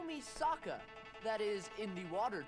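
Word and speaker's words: Sokka: so good that's right I'm Saka it's pronounced with an AA young ladies I rocked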